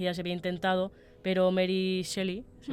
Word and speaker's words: Mary Shelley: Entre 1500 y 1600 ese viaje ya se había intentado, pero Mary Shelley, se pronuncia así, sí.